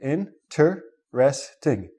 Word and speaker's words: interesting: interesting in tre stink find out what the syllables are so in tur sorry my mistake in tur resting if you want to emphasize something we have